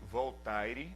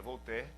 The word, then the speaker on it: Voltaire: Por exemplo, Voltaire, um filósofo muito conhecido, na verdade se escreve Voltaire, né, em português, mas se pronuncia Voltaire.